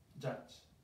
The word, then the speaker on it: judge: Judge. ¿Vale? ¿Te acuerdas que hay ciertas U's que se pronuncian A?